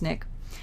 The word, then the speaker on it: SNCC: students formed called snick it's an acronym s and CC it stands for the Student Nonviolent Coordinating Committee SNCC pronounced snick snick was a group